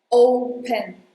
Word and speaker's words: open: First thing is: pay attention to this O because you have to add a U sound right after O. Open not just open you have to say open, open.